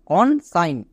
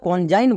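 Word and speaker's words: consign: কনসাইন। একে আমরা কনজাইন বলতে পারবো না, এই বিষয়টাকে খুব ভালো করে মাথায় রাখতে হবে। IGN ওয়ার্ড প্যাটার্ন, এর জন্য আইন সাউন্ড করব, যেমন ডিজাইন, কনসাইন। এবার দেখে নেব ING এর জন্য ইং সাউন্ড করব।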